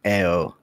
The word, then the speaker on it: Io: I keep saying Io, but I wanted it to be pronounced like Ao.